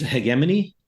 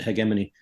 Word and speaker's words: hegemony: um interestingly they use the British pronunciation of hegemony they use hegemony um which the Brits rationalized by saying the hard G in the original Greek okay fine but then